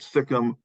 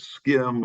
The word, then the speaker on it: SIKM: but the name stuck so today people will call it sicm or they misspell it as skim or they'll call it s-i-k-m if you say it too fast they can't follow what